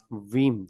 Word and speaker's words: Veeam: So again देखें ना, इतना इज इट बीम backup, BEAM, वीम वीम। वीम है, नॉट बीम।